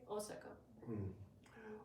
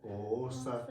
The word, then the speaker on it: Osaka: Osaka. Wow. And the important thing is that O has 2 moras. It's not Osaka. Osaka. If you pronounce it Osaka, that sounds something different.